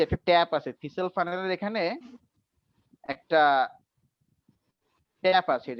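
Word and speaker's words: thistle funnel: এই না পেপেট না, এই ডিভাইসটার নাম নাম জেনে রাখো, থিসেল ফানেল। থিসেল ও আচ্ছা থিসেল ফানেল, মাঝখানে টিটা সাইলেন্ট থাকবে।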